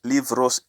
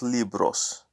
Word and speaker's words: libros: muchos libros libros sorry so remember that it's live rose and not libros that's another thing in Spanish language so sometimes to be pronounced like a V so Daniel you siempre